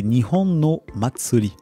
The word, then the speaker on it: 日本の祭り: excuse-moi Jérémy, tu peux me redonner la prononciation du titre de cette analyse, s'il te plaît. C'est Nihon no Matsuri.